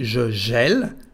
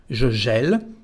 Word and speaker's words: gèle: Así que la primera forma se dice je gèle, como si fuera una E. Je gèle, tu gèles, il gèle, elle gèle, on gèle.